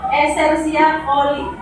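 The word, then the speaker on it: Escherichia coli: Bakteri esersia Esersia koli bacanya koli.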